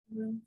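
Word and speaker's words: Grünfeld: The Grunfeld defense.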